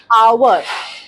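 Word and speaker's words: hour: हम यस फॉर an example आवर honest इस सब में एच साइलेंट [नाक से की जाने वाली आवाज़] है।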